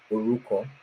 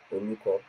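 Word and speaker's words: orúkọ: name is Oruko. Oruko. Can you say that? Oruko. Oruko. Oruko. Oruko. Oruko. Yeah, so that means name. You didn't pronounce it quite well, but you'll get it with time.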